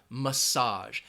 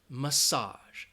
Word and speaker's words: massage: a rub giving a massage and that first syllable has that schwa ma massage massage okay massage I hope